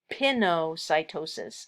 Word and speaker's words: pinocytosis: Now, another specialized form of endocytosis is called pinocytosis or pinocytosis, as it's sometimes pronounced.